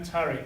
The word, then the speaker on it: Tariq: Yeah, Tariq. How do you spell it?